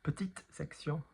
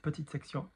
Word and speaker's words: petite section: Petite section, not petite section, moyenne section, grande section.